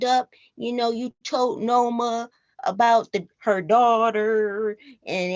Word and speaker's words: Noma: to pronounce her name I know it's n-o-m-a so it could be no me or Noma no no no my Noma okay okay Noma Noma